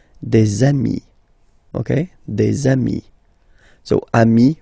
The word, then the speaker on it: des amis: And if you make the liaison, so the link between the two, you will get des amis, okay?